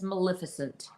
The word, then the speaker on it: Maleficent: right exactly okay I looked it up it's Maleficent you are right oh okay M MC in the clutch with the pr pronunciation Maleficent Maleficent Maleficent Maleficent okay there we